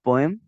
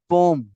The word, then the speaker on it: poem: तो ये इट्स पोएम। पोएम British English में बात कर रहा हूँ मैं, पोएम और पोएट। अच्छा, अमेरिकन इंग्लिश में पोम।